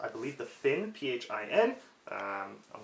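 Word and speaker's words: phin: what this is typically called i believe the finn p-h-i-n um i'm not gonna try and pronounce it traditionally because that uh just butcher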